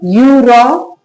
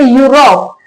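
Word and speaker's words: Europe: अपने पढ़ते हैं जैसे यूरोप तो एक बार के लिए लगता है कि वाई से स्पेलिंग होगी शायद, तो वाई से स्पेलिंग नहीं होती। क्यों नहीं होती, ये क्या है, ई यू, इसका साउंड भी यू होता है तो इसके लिए यूरोप ऐसे लिखा जाता है, यूरोप।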